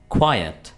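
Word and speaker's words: quiet: इस वर्ड को हम कैसे प्रोनाउंस करेंगे? क्वायट। क्वाइट ना कि क्वाइट ठीक है इसको आपने क्वाइट नहीं बोलना यहां से निकल जाओ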